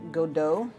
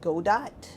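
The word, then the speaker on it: Godot: um what is it godo prior to me actually hearing people pronounce that I was like go Dot but I'm very curious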